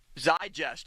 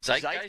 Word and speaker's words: zeitgeist: Is that the correct pronunciation of that word? What? Bob? I think so. What? No, that's not the best. That's a good use of the word. Zeitgeist. Zeitgeist? Yeah. Zeitgeist.